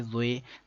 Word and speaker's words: ظ: کے مطابق عربی لہجے میں ادا کریں، اردو تلفظ سے پرہیز کریں یعنی کہ بے، تے، سے، ہے، خے، توئے، زوئے وغیرہ ہرگز ہرگز نہ پڑھیں بلکہ با، تا، سا، حا، خو، تو، زو پڑھیں.